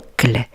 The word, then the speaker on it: oncle: Oncle. Ici, la lettre O et la lettre N vont former le son oncle.